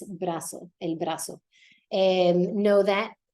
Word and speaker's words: brazo: brazo because remember that your z's will not be pronounced like a buzzy sound though we do Z so it needs to sound like an S brazo El brazo and know